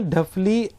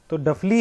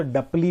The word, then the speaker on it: डफली: तो डफली है वो, हम उसको डपली भी बोल देते हैं।